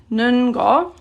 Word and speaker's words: 는 것: In speaking, it's often just pronounced 는거, just to make it a little bit easier.